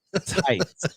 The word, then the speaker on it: Tits: Can Tom keep his secret and resist the coy charms of Rebecca Tits? That's pronounced tights.